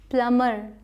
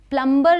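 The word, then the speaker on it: plumber: प्लमर। प्लंबर नहीं प्लमर प्ल म र प्लमर ठीक है प्लमर इसी तरीके से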